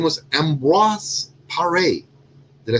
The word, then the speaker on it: Ambroise Paré: His name was Ambroise Paré. Did I say it correctly? Ambroise Paré, or Ambrose Paré.